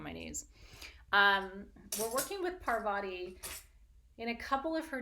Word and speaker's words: Parvati: Ooh, Fem Elder's a good one for tonight because we're working with Parvati tonight, or Parvati as she's sometimes pronounced.